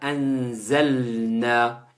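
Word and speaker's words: أنزلنا: Inna anzalna. Il faut bien faire attention à bien prononcer le lam qui est un soukoun juste avant le nun qui lui a une fatha au-dessus.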